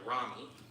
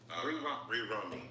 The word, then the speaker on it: Romy: Bri, I hope I'm pronouncing her last name right, Ramy. Romy. Romy. Thank you.